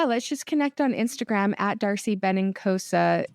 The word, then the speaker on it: Darcy Benincosa: just connect on Instagram Darcy benosa that's a very Italian name but it sounds it's spelled exactly how it sounds and inosa and if